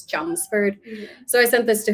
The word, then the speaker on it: Chelmsford: in Massachusetts called Chelmsford the thing with Massachusetts towns is that they are never pronounced the way they're spelled so I would call this challengeford but she's it's Chelmsford so I sent this